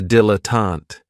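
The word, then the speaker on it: dilettante: my favorites is a dilatant and this word has three syllables and there's kind of like a stress on that first and last syllable the reason I say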